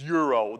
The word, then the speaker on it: gyro: as opposed to subway please don't argue with me about how to pronounce the word gyro i've studied greek and it makes no sense i just don't get it it's euro then we shouldn't spell it that way i'm sorry i